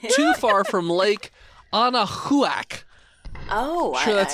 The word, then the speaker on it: Anahuac: Not too far from Lake Anahuac. Oh, Sure, that's how you pronounce that.